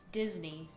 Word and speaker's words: Disney: c'est le parc d'attraction Disney Disney euh prononciation encore une fois très différente aux ÉtatsUnis qui est Disney Disney qu Mme il y a un Z au milieu et un I et on fait ça